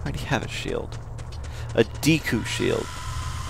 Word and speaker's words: Deku: A Deku shield. Those of you who pronounce it Deco are wrong.